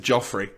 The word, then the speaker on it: Joffrey: And then there's a guy called Jeffrey, but they pronounce it Joffrey.